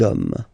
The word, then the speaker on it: hommes: You don't pronounce it, so you get des hommes, okay. Un homme, singular form, des hommes, plural form, okay.